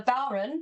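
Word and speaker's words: bodhrán: for cording and accompanyment this is called a bon I'll spell it for you because uh it is not spelled as it sounds b o d h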